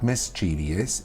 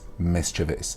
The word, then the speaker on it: mischievous: Naughty is mischievous mischievous a lot of people pronounce this mischievous mischievous it is not mischievous it is mischievous and actually a lot of the words that